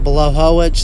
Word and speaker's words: Blachowicz: contender fight between yan bala Hoek and Thiago Santos below hull which that is like apparently how you pronounce that name polish names tend to